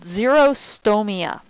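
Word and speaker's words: xerostomia: common side effect of an antihistamine is called zerostoia. Um zerostoia is basically it's it's spelled x e r o s t o m i a.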